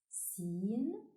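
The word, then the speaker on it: سين: Sin, like in sun.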